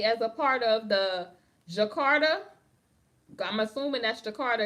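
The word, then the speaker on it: Djakarta: a part of the Jakarta I'm assum that's thearter it got a D in front of it honey but you know they be like the D is silent like jeno the D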